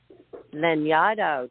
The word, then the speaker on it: Lanyadoo: you and everybody go and check out Jessica lenado did I pronounce it correctly you did it you did